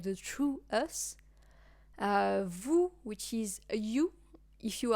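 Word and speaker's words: vous: uh us but like the true us uh Vu which is you if you are being either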